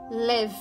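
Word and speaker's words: לב: Ao termo hebraico para coração, Lev, pronunciado love, que é a palavra hebraica típica para coração no Antigo Testamento, como em Lamentações 333.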